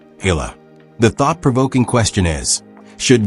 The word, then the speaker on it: Eala: off the spotlight, but a name few in America have ever pronounced correctly. Hila.